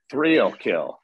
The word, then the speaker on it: Threalkill: Threalkill. Yeah, it's like real kill with TH on the front of it. Threalkill.